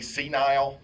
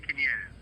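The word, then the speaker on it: CNIEL: Am I pronouncing it right if I say senile? Because that's hilarious if it is. In French, they say Quiniel.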